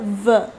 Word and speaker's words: veux: It was je veux, V-E-U-X. There also, the X was silent.